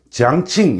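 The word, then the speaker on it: 江青: 강청, 요즘은 이제 그 현지 발음을 많이 쓰기 때문에 지앙칭 이렇게 발음을 많이들 하죠.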